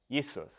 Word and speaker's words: Jesus: transliteration or English version of the German name yesus the German is a transliteration of Latin Jesus